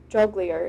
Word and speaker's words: jongleur: And so jugglers performed, or jesters, or jongleur is how it's said, performed for the king and for their audience.